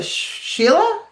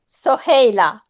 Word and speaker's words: Soheila: So, hi, oh boy, Sheila, is that right? Did I say it right? Welcome. And please let us know where you're from. Soheila. Sorry. Say it again. Soheila. Sohaila. Oh, got it. Wow. All right. Thank you so much, Sohaila.